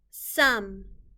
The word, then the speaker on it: some: In normal words, a sneaky E makes the O say its name, but instead, the O is making a short U sound, and the E is just here with the M.